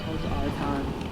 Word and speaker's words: Otacon: Yeah, like Otakon, because that's how he pronounces it. Yeah. Otacon.